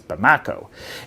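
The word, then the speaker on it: Bamako: And in doing so, it's been really hard for fuel to get to Mali's capital, which is called, I believe the pronunciation is Bamakco.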